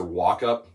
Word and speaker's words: Walkup: my name is professor walkup doesn't look that way when you read it but that's how you say it like walk up the stairs uh I am a